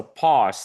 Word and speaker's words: pause: pause, it's better to it's not like pose, but imagine it's like a paw, like you know the dogs and cats, they have paw, and you just add s. So pause.